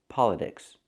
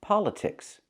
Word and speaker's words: politics: It's pronounced politics. The T in this word cannot be pronounced with a fast D. Not politics, but politics. Why? because there's a stress after the T. It's a secondary stress.